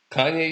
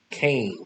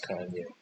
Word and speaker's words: Kanye: Kanye is the guy that they called Kane. Some people called him Kane cuz they couldn't pronounce Kanye.